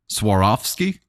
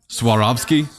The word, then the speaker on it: Swarovski: Swarovski? Pronounce the W.